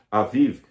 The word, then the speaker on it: Aviv: era chamado de mês de Aviv, ou Abib, como alguns pronunciam, o mês da primavera.